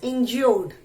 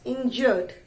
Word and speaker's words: injured: वी डू not pronounce it एज इंज्योर्ड, इंज्योर्ड नहीं बोलते हैं, we read it एज इंजर्ड, okay, इंजर्ड।